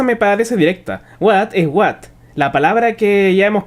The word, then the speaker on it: hvat: qué y de hecho parecen pronunciarlo de más de una forma la aldeana mujer por ejemplo lo pronuncia de una manera que se acercaría bastante a la pronunciación pura de What que se parece bastante al wat del inglés mientras que El aldeano hombre nuevamente lo pronuncia algo más cercano a hot como otras unidades el